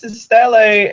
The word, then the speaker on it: stele: the books, I'm like, oh, it's Steely. That's how it's spelled, Steely. Yeah. And then we don't speak Latin, so like Stele. But I like Stele. It sounds nicer. Like it's Stele, Sephora. Like it sounds cooler here. The right way to say it. Yeah, because I was like, oh, Steely and Seraph blades. Oh no, it's Stele and Sephora blades. Okay.